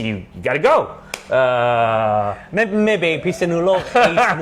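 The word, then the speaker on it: Phitsanulok: on Thailand, is Thailand Pizza, how do you pronounce it? Pitsanulok. Pizza? Pitsanulok.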